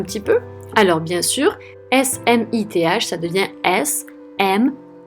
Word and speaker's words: Smith: On met bien sa langue entre les dents et on prononce th, Smith.